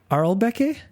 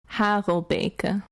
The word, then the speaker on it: Harelbeke: It is E3 Arlbeke. That's close. So if I were to pronounce it in Dutch, it's E3 Harelbeke.